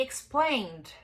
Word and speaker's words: explained: Nesse caso, ele tem som de D.